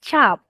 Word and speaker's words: cap: In English, you pronounce it as cap. All right? But, in Bahasa Melayu, you pronounce it as chap.